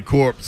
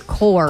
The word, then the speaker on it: corps: like the receiver cor core core there's no P core you don't pronounce the P core corpses are dead